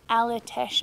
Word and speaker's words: Aletsch: You find us this morning halfway on our way up to the Aletsch, I think that's how you say it, Glacier.